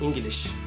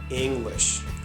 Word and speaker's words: English: the difference and again in the word English we have another l sound that's why Turkish people say it like this English English English is wrong we say it English English and the famous Double